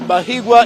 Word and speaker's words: Bahiigwa: He has told me here that Bahiigwa is a romantic name, so it should be pronounced with a lot of ease and not rushed.